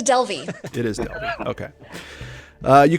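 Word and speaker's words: Delvey: refreshing i love that oh delvie or is it del vey and uh we've got lance as the best player on that one uh rebecca which way is it pronounced thank you google it's a delvie it is okay uh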